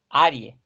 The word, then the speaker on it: arg: Arik. Arik. Arie. Es como si fuera Arie.